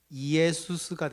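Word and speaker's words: Ἰησοῦς: 그리고 이 호세아가요, 이 호세아 이거를 헬라어로 하면은요, 지금 이 호세아는 히브리어인데 이거를 헬라어로 발음을 하면 뭐가 되냐면 이에수스가 됩니다.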